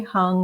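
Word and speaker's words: heng: The sound is hung, hung, spelled H-E-N-G, pronounced hung.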